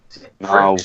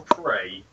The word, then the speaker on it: Prix: Pricks or prey? I don't think you say it pricks, do you? No, it's pronounced Birmingham.